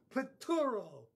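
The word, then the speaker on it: πτύρω: This word in the Greek is one of those words that almost sounds like spit. I'll have to cover my mouth to pronounce it. Spituro. Pituro, you get it? It starts with P-T-U-R-O. Pituro. Doesn't it sound like somebody spitting in your face?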